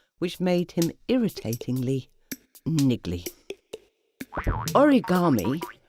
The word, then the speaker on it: origami: made him irritatingly niggly origami pronounced a rigged army is an art form